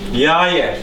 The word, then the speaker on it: jaje: Jaje.